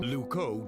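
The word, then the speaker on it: Loucaux: stop why what's wrong luco doesn't really rhyme with bordeaux it's spelled completely really luco is spelled l o u c a u x you can't write limericks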